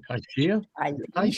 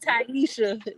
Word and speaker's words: Taishia: I always say your name wrong, Taishia. That's how you call me. Call me. What? It's Taisha. When you look at the spell and just think the opposite.